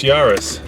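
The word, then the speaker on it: Yaris: squirrel yeah so what rhymes with uh Paris it's built in France but is owned by a Japanese car company and of course the answer is this yarus so let's uh see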